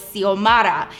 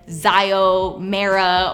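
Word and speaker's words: Xiomara: had the most amazing name her name was seal Mara that's how you pronounced it but she spelled it x io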